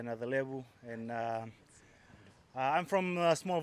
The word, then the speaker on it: Nayacalevu: My name is Waisea Nayacalevu, and I'm from a small village in Fiji called Sanro, and it's in the Serua province.